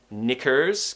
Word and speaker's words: knickers: top teeth and we're finishing with a schwa sound before the z us so we don't want knickers because that would be more of an american pronunciation pronouncing the r if